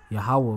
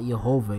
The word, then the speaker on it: Yahweh: Yahweh right there. All right, that's the Most High name. It's not Yehovah either. That's an improper way, of course, of pronouncing it. That's what the fake false Jews pronounce it in Yiddish.